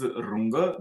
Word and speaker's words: Runge: German mathematicians, and perhaps the first name is Runge, that's how it is pronounced, and second is Kutta, but you are free to pronounce them in any way you want.